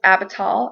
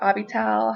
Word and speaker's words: Abital: abishag number seven is abital or abital however you want to pronounce it and it means father